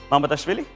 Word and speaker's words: Mamardashvili: How do you pronounce Mamardashvili? Mamardashvili?